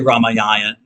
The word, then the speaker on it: Ramayana: many years ago and she said pronounced her Ramayan okay fine you know but I'll say Ramayana anyways um but you might hear it pronounced Ramayan um so the Ramana